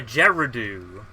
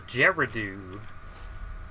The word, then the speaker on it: Gerudo: some reason my mouse wasn't uh oh yeah gerardu yeah the geradoo got it thanks for correcting my pronunciation for no pronunciations um what was i